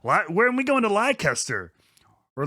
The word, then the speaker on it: Leicester: And second of all, thank you for pronouncing Leicester City correctly. Wait, how do people say it? How did they say it? Leicester or whatever. No, oh, Yeah, I've heard people call it Leicester. That Americans, yeah. I No. learned That's awful. in wrestling, Thank you yeah. for pronouncing it correctly, gentlemen.